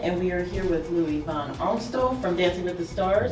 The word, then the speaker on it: Louis Van Amstel: New Mexico entertainment and we are here with Louis Von arto from Dancing With the Stars wow I love how you pronounce that that's actually the way it's supposed